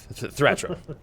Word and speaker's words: Thratram: Yeah, dwarves have very, throaty names. Ratcham? Yeah, Thratram. Ratcham. Okay. That's how you say it in the dwarven tongue.